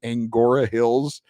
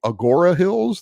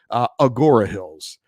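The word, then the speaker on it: Agoura Hills: It's apparently Agora Hills. There's no N in there. So, oops. Look, I'm not originally from here. So, cut me some slack. Agora Hills.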